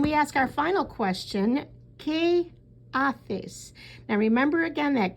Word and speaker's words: qué: And then we ask our final question, ¿qué haces? Now remember again that Q-U-E sounds like the letter K in English, and haces, that H is silent.